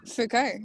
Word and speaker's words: Foucault: Foucault or something. How do you say his name? Oh yeah. Okay. Yeah, Foucault.